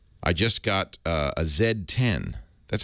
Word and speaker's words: Z10: just got uh a zed10 that's how you apparently how you're supposed to pronounce it cuz cuz Blackberry is a Canadian company so they pronounce this the zed1 it's the